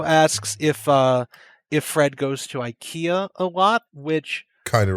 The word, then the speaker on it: IKEA: IKEA. Do you guys pronounce it IKEA in England? Oh no, we say IKEA. The IKEA is more how it would be pronounced in Sweden, because in IKEA adverts